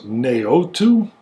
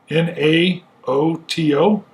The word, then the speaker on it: Naoto: Oh, it's hard to pronounce. Naoto? N-A-O-T-O? Naoto.